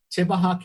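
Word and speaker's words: Tibbehah: When you created Tibaha County, am I pronouncing it correctly?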